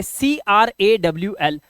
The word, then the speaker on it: crawl: कैसे, जैसे CRAWL, तो यहां पर एक शब्द के बीच में, कई बार अंत में भी होगा, तो यहां पर इसका साउंड होगा ओ का।